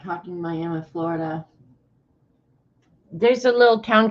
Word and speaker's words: Miami: about 30 miles but the Florida one calls itself Miami in Oklahoma they pronounce it Miami don't know why spelled the same everything is the same but they say Miami foreign for you I